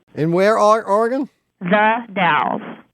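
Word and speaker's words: Dalles: The Dals. How do you spell it?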